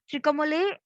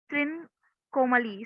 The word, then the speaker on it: Trincomalee: Okay, so this was held in Trikomale of Sri Lanka, Trincomalee. So I'm sorry about the pronunciation.